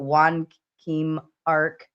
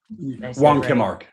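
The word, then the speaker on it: Wong Kim Ark: name I think but Juan Kim Arc that case. Yeah. Did I say it right? Wan Kimark.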